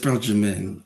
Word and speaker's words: Jamin: It's pronounced Jamin. Like Jamin. Benjamin without the Ben.